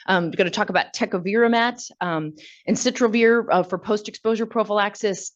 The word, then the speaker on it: tecovirimat: I say tecovirimat because it is an E, but that's not the question here.